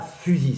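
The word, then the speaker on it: phusis: la fusil cette attention ce n'est pas la physique c'est là fusil ça s'écrit p -h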